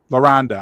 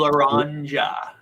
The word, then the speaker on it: Laranja: Laranda. I'm sorry, Laranda. No, Laranja. Laranja.